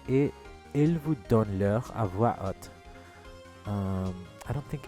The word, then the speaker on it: à voix haute: Okay, so there's no liaison. And the H is silent as normal.